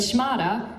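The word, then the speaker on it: shmatta: it's perfect she said shimada rhymes with ghada means a rag but here's how her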